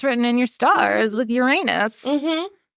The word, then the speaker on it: Uranus: in your stars with Uranus MH thank you for honoring the right way to say that by the way Uranus it was really hard